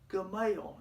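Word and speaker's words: גמל: three continents equivalent to our cmail and it's pronounced gamal in hebrew you could have one game or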